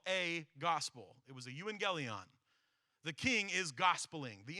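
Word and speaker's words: εὐαγγέλιον: The word gospel actually comes from an old Greek word pronounced euangelion, and that word literally means a proclamation or a declaration.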